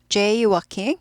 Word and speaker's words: jaywalking: jaywalking, L이 묵음이죠. working 아니고 walking, jaywalking.